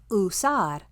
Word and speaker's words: usar: The letter U makes the oo sound like usar.